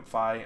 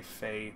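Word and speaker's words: Fai: lot of people say fae but phi i think is the technical pronunciation because phi is how it's pronounced the way it's spelled i think personally and also phi like fire i don't know i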